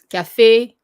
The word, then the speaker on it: café: This accent indicates a closed E sound, such as café, élégant. So it sounds like A, like almost in English, like the letter A, but it's not the same, but it's similar. Like when you think of, when you see that, it's A.